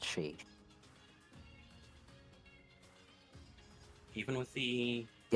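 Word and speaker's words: Sídhe: It's it's just pronounced she.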